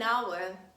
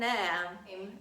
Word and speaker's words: hour: because there are some words starting with letter h where letter h is silent and we pronounce a vowel sound instead and we say an honest man an hour an hour i'm talking about vowels